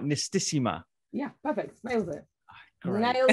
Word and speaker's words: Nistisima: Am I pronouncing right? Nistisima?